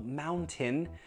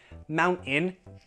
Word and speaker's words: mountain: Also in words that have consonant sound, T, vowel sound, for example, mountain, mountain, just no, don't do that.